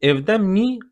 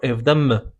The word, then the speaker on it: evde mi: You may pronounce it evde mi or evde mi. No difference.